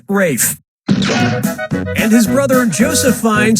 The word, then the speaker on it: Ralph: honestly yeah ray Fiennes first name is spelled like Ralph but pronounced Rafe and his brother Joseph